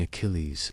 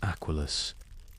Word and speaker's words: Achilles: Now you listen as a Roman child recites Homer, but in a romanized accent, mispronouncing Achilles as Aqualus.